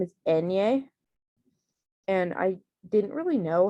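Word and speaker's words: eñe: like in you like the sound like that you hear in the english word onion that's how it is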